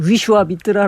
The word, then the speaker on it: 비슈바미트라: 비슈바미트라 . 예 . 비슈바미트라 . 원래 산스크리트어 발음 에서 는 Vishvamitra 입니다 . 검색 결과 에 나타나지 않을 거 예요 . 검색 편의 를 위해 비슈바미트라 로 표기 합니다 .